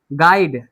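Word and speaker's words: guide: होता है, तो यू क्या है यहाँ पे, साइलेंट है। गाइड, GID, गाइड, लेकिन फिर भी यहाँ पे क्या है, यू है, GUID, इसको बोलते हैं गाइड।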